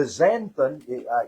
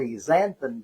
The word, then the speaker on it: xanthan: Also, the xanthan, it's pronounced with like a Z, xanthan gum, very, very good too.